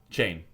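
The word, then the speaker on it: Chayne: It's spelled C H A Y N E. Correct. Yeah. Right. Yeah. Chain.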